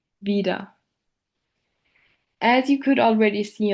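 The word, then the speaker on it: wieder: For instance, the word vida, which translates to the English word for again, is pronounced in the way vida.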